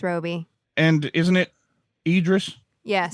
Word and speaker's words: Robbie: I know it's Roby.